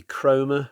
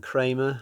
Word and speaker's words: Cromer: Before we go on, I think the name of the town might be Cromer rather than Kramer.